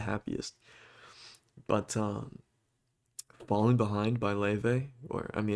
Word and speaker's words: Laufey: Um, not the cheeriest, I'll tell you that, not the happiest, but "Falling Behind" by Leve, or I mean it's spelled Laufey, but it's pronounced Leve, and then "Preaching to the Choir" by Doan, Doan.